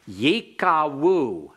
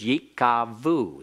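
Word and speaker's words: יִקָּווּ: Yikawu. Yikawu. All right, if you were in Dr. Grisanti's class, he prefers to use modern Hebrew pronunciation instead of biblical Hebrew pronunciation, and he will use Yikavu.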